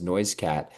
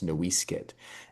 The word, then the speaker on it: NoiseCat: is remarkable to me because, of course, my last name is NoiseCat, but even more remarkable because NoiseCat was not originally pronounced noise cat.